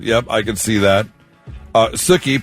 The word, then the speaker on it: Sookie: Sookie, pronounced like cookie, after Sookie Stackhouse from the show True Blood.